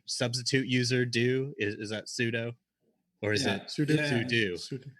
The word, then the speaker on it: sudo: platform security that one I believe is pronounced pseudo or sudou maybe the this topic